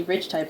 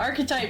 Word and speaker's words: Archetype: We play Rich Type a lot too. Oh, Archetype? Yeah, Archetype. Sorry.